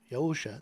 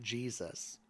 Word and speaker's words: Yahusha: So Jesus as, well, he's Yahusha. That's the correct pronunciation for his name, not Jesus. The J didn't even come into existence until the 1500s.